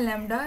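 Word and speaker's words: λ: एसे sign का और इसको प्रोनाउंस करते हैं लडा सिमिलरली वो कह रहे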